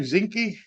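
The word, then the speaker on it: Zinke: One of the things that Lisa McCain, Ryan, how do you pronounce his last name? Zinci.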